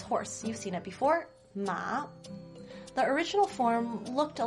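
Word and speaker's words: 妈: the word for mother ma is pronounced exactly the same as the word for horse ma except for the tome thing mother uses the first tone ma horse uses the third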